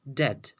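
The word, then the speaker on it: debt: डेट डेट means कर्जा यहाँ पे जो वर्ड बी है वो साइलेंट है इस वजह से हम इसे कहते हैं डेट डेट मीन्स कर्जा डिसीशन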